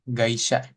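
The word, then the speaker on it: 会社: Oke, kita masuk yang gaisya. Ini dibacanya gaisya gitu ya. Oke, ini kayaknya emang agak burem sih sebenarnya. Oke, jadi kalau kita biasanya kan di Mina 1 pakainya Kaisya, Kaisya gitu kan.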